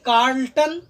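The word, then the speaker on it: Charlton: अब देखिए, यहाँ पर एक दिया हुआ है कार्ल्टन, यहाँ पर CH का उच्चारण क के तरह करेंगे, कार्ल्टन, केंट और इंग्लैंड।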